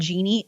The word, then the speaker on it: Geeni: There's one by a company called Genie. It's spelled weird, Geeni.